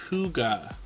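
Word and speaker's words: hygge: friends Huga Homestead um this word h y g g e is pronounced Huga and it took me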